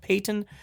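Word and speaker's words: Paton: For people who are wondering, where's this George Patton? I think it's pronounced Payton.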